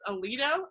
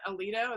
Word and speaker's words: Alito: think it was Justice Alito. Is that it? Alito? Is that how you say it? Yeah. A-L-I-T-O, yeah.